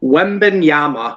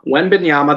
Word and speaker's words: Wembanyama: What do you guys think we're going to see from Victor Wembanyama? Wembanyama, that's how I've seen how to pronounce it.